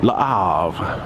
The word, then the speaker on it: Le Havre: It's Le Havre. You don't really nail down on that H. I've been saying Le Havre the whole time. Le Havre.